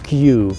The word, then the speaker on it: queue: В Британии говорят queue. Очень непонятное слово, на самом деле оно французское, именно поэтому читается только одна буква, первая буква Q, а пишется еще четыре буквы.